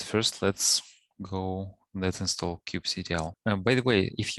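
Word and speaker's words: kubectl: some people pronounce it qb cattle some people pronounce it cube ctl i pronounce it as cube ctl because i don't see how this can be read as cattle anyways yeah so i'll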